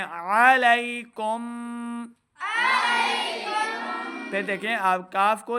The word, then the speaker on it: علیکم: ہماری غلطی کیا ہوتی ہے، ہم پڑھ رہے ہوتے ہیں علی حمزہ کی آواز ہے. عین کو صحیح تلفظ کے ساتھ پڑھیں علیکم.